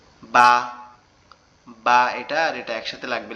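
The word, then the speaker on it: ب: আমাদের এই যে ঠোঁটটা দেখতে পাচ্ছেন, এখানে উপরের যে দুইটা দাঁত আছে এই দুইটা লাগবে, লেগে কি করতে হবে, এই দুটো লাগার পরে আপনার হালকা বাতাস মতো বের হবে, বের হয়ে উচ্চারিত হবে বা, বা।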